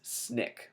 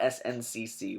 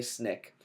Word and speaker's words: SNCC: Nonviolent Coordinating Committee and the way we pronounce it is snick so not SNCC we say snick and they use colleges